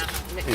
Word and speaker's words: McMahon: Even though it's spelled not... Yeah, it's McMahon.